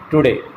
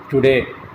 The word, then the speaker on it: today: But here, the second syllable day is stressed. The first syllable is unstressed. So we utter the second syllable with greater breath force. We utter the second syllable loudly, today.